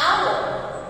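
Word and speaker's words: hour: sound of y and our in the word the letter h is silent so we have the vowel sound of o a one dollar note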